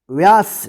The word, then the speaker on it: व्यास: व का, तो व या स, व्यास। इसको क्या पढ़ेंगे? व्यास। व पे जल्दी उच्चारण हो जाएगा, व्यास।